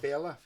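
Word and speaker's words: Féile: How do you pronounce Fela? it? Fela.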